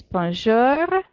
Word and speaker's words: Bonjour: repeat after me please Bonjour get your growly bear banjara huh it's just a light growl on the end but if you don't do it then you're not pronouncing it quite right Bonjour salut salut Bienvenu